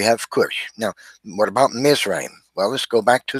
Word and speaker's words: Mizraim: We see in Hebrew, the word is pronounced Mizraim. And that's exactly what the Bible says. It says that the sons of Ham were Cush, Mizraim, Phut, and Canaan.